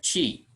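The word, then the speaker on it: ち: Kemudian chi. Ini dibacanya chi. Nanti huruf latinnya boleh T dan I saja, tapi bunyinya chi. Boleh C dengan I, ini bunyinya chi, atau T aksen I, atau CHI.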